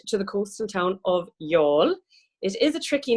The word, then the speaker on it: Youghal: the coastal town of y'all is a tricky name to pronounce with its silent G it's kind of like the y'all in Texan is the easiest way to say it and even for us